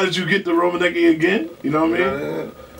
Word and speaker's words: Rominiecki: Now how do you pronounce that now? City Rominiecki.